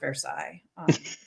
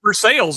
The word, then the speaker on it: Versailles: I got to say the word Versailles on camera. Um 10 years of French right there folks. Um but I pronounce for sales if you're in Indiana.